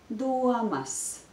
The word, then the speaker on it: domas: Mani interesē jūsu domas. Domas. There is a diphthong ua in this word. It's a two-syllable word, so I think you are ready to pronounce it together with me.